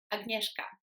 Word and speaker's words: Agnieszka: So we're going to start with my name, Agnieszka. And the reason people often struggle to pronounce it is because it contains a couple